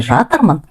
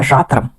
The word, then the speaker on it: жатырмын: Вы, наверное, заметили, когда мы произносим слово «жатырмын», окончание последнее не произносится, как будто мы их проглатываем. Поэтому она звучит не «жатырмын», а «жатырым». «Кір жуып жатсың ба?» Пишется «жатырсың ба», но произносится «жатсың ба».